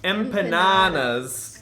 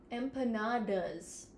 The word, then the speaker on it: empanadas: are you saying empanadas how do you pronounce them empanadas with a with a d I've been pronouncing them wrong this whole time I didn't realize there was a D in it this man chose the